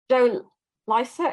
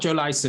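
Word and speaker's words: Joe Lycett: the Tories yeah so let's just clarify it's not Joe Lisa he's not on the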